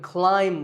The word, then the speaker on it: climb: In fact, in many words, when you have the letter combination MB, the B is silent. If I had a ladder in front of me now, I could climb the ladder, not climb.